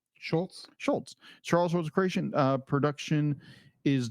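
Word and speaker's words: Schulz: How do you pronounce his name? Schultz.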